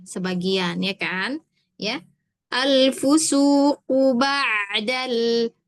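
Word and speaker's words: بَعْدَ: Alfusuqu ba'dal. Ba'dal bukan ba'dal. Kalau ba'dal itu hamzah.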